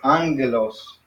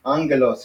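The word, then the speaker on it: ἄγγελος: And then this one is Angelos. So that one sounds like Angelos. Angelos. Angelos. It's like a name. So when you have two gammas together side by side, you pronounce it like this, Angelos.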